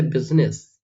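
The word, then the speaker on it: business: अगर आई तो हम लोग सभी जगह पे प्रोनाउंस करते हैं, बट कुछ कुछ एक्सेप्शंस है इसमें। एक्सेप्शंस आपको मैं बताता हूं, जैसे बिजनेस, बिजनेस, बिजनेस नहीं होता, जैसे होता है parliament, parliament, parliament, parliament, parliament.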